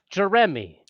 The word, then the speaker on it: Jeremy: Most people just forget that that middle syllable and they're just Jeremy.